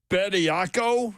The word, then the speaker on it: Bediako: Charles Bediako, is that how you pronounce that, guys?